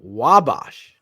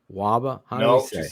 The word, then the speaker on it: Wabash: 524 South Wabash. Wabash? Am I saying that right, Cherie? Waba? She's saying no. She's saying no. How do we say it, Cherie? Wabash. You said it right Monday night.